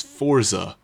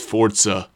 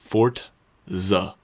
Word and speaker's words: Forza: The franchise has continued on the Xbox 360 and is often mispronounced as Forza or something along those lines. So now you know it's Fortza, not Forza. Fortza, not forz.